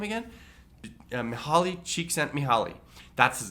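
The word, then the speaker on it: Csikszentmihalyi: how do you say melhali's name again holly cheek sent me holly that's his name and he is the preeminent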